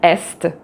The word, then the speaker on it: est: And so here, for example, you have est, ouest, aussi but et test. Donc j'ai un test. Donc j'ai un test. Voilà. So here you see the final T is pronounced.